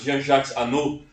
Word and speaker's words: Jean-Jacques Annaud: Jean-Jacques Annaud, se escreve, né? Mas Jean-Jacques Annaud.